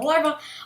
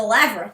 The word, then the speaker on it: lavra: Unfortunately, we did lose us building the larva, or the lavra. Have I pronounced it? It's the lavra, not the larva. That would make sense. Larva was something completely different.